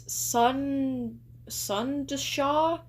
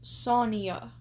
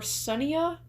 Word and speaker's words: Sonia: First things first, it's not pronounced as sunasha. It's pronounced sonia or sunia. Sunia sonia. I'm going to say Sonia because that sounds the nicest and that just sounds right.